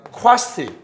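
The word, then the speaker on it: quasi: 쿼시 또는 쾌자일이라고 읽는데 쿼시 무슨 상태?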